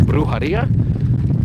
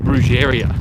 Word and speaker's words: Brujeria: If you know a death metal band from way back called Brujeria, a lot of people in Australia or Western world call them Brujeria, but it's actually pronounced Brujeria.